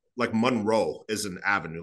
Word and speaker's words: Monroe: So for example, even they have like Monroe is an avenue, like James Monroe, but they pronounce it Monroy.